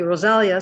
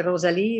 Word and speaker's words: Rosalia: But what I usually what I say, because everybody has difficulty pronouncing it, whether French, Canadian, or English speaking, they call me Rosalia. So what I say in French is I say Rosalie, or in English I say just say Rosalie.